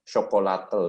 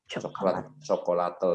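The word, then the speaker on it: chocolatl: Dan kalau bahasa aslinya coklat itu adalah chocolatel bacanya. Jadi chocolatel. Jadi coklat ini adalah satu-satunya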